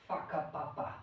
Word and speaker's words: whakapapa: the Maori term is a term known as whakapapa. I'm not swearing at anybody. That's how they pronounce it.